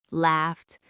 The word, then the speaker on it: laughed: cooked, watched, laughed, they all have that sharp sound at the end.